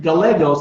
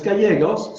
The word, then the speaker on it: Gallegos: But then she pronounced my last name Gallegos, and it's Gallegos. So I corrected her and I said it's Gallegos.